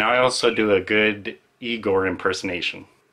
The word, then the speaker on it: Igor: also do a good igor impersonation no it's pronounced i gore so i read a